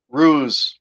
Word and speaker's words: Ruse: Ruse rhymes with blues.